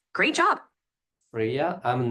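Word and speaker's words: Freya: Ah f r e y a is pronounced friya like the Norse goddess. Great job. Fria.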